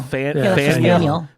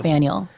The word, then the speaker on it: Faneuil: Faneuil Hall. Faneuil. Like Samuel, but Faneuil.